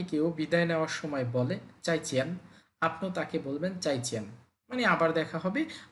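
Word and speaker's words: 再见: ফোরটন পাশাপাশি চলে আসছে আমরা প্রথম শব্দটাকে সেকেন্ড টনে বলার চেষ্টা করব চাইচেন উচ্চারণটা হবে চাইচেন চাই চেন মানে আবার দেখা হবে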